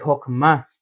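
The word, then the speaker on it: Chokmah: Ahora, en la segunda céfira nos encontramos el chokma o el hokma, realmente la pronunciación correcta.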